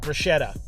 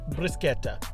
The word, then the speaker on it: Bruschetta: have a different pronunciation here in Australia you would call it Bretta but doing a little research it's brusketa and to pluralize it